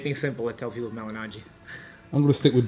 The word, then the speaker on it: Malignaggi: results cool just finally did you pronounce the G in your name is it silent Mal yeah the first G silent yeah yeah melan cuz like when I